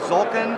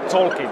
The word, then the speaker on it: Tzolk'in: start with and I don't know if I'm pronouncing this correctly Zoltan the mayan calendar game even close to be honest i don't know how it should be pronounced we SH X says Tolkien okay and this game it's actually we saw